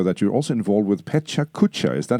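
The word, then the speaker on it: PechaKucha: I saw in your bio that you're also involved with Pecha Kucha. Is that how you pronounce it? What is that? Okay, Pecha Kucha.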